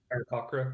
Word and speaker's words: Aarakocra: The Aarakocra? Aarakocra, yeah.